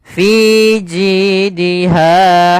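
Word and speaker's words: في جيدها: Kemudian pada lafal ha ada mad th'i yaitu panjangnya dua harakat fathah bertemu alif maka suara f ji ji dan ha harus sama fi jidiha nah kemudian hablum nah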